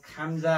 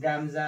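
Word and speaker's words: 감자: के हो गायक यो खाम्जा हो गाम्जा हैन खाम्जा भनेको आलु हो ग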